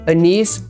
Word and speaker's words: anise: Apple, anise, artichoke.